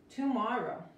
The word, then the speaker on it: tomorrow: Es la O, es la A. Okay, ah, tomorrow, se pronuncia como tomorrow. Tomorrow, otra vez, la R en inglés, ok. Un círculo con los labios, la lengua flotando, tomorrow, ok.